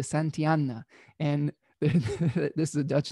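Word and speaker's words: Santillana: uh de san tel tijana i think that's how you say it the santiana and this is a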